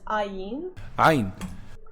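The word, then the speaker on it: عين: Also, apparently the name of the letter was ayn.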